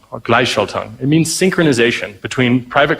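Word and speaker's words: Gleichschaltung: well and it's uh I'm really bad at pronouncing it but it's gly Shelton or glyshalton it means synchronization between private companies and the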